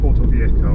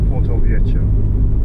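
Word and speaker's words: Porto-Vecchio: It's not Porto Vecchio or Porto Vecchio or whatever, it's Porto Vecchio.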